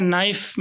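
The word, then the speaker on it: knife: जैसे हम देख सकते हैं नाइफ़ में के का जो साउंड है वो हमने ओमिट कर दिया।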